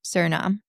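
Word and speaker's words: Suriname: Yeah, but it's pronounced um Sernam.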